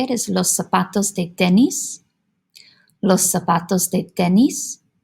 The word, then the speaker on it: zapatos: in Spanish, for accents, if a word ends with a vowel, the letter N, or the letter S, the accent naturally goes on that second to last syllable. So in this case, that pa, zapatos.